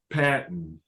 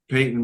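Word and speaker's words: Paton: he is a 26-year personal executive um following his first season with the team Mr is they pronounced his name Peyton I'll say it correctly now um was awarded the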